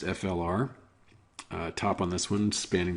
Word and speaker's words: Fluor: Fluor Corporation, I suppose it's pronounced FLR.